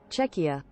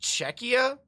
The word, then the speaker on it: Czechia: catastar named it um chesia chesia properly what's up Vita good morning we're making sure we pronounce things czechia oh it's just czechia oh that sounds so wrong that sounds so wrong czechia it's just checkia um as someone who's